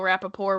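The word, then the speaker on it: Rapaport: I have for all of my life that I've known Michael Rapaore existed called him Michael Rapaore with a silent T.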